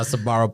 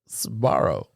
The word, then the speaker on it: Sbarro: Like, Yeah, I should have seen my Sbarro pizzas.